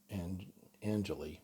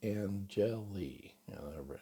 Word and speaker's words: Angeli: One of my agents, One Realty Corp in America, Henry Angeli, and I called him Angeli for years, and then he finally got frustrated and with everybody calling him Angeli, and said it's pronounced Angeli.